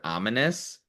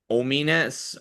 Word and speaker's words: ominous: I think it's hilarious how everyone's made fun of Elias for not knowing how to say the word ominous. Ominess.